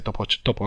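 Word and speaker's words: taupe: ostras, ¿cómo se dice topo en francés? Y por suerte, topo en francés es escrito tope, que se pronuncia top.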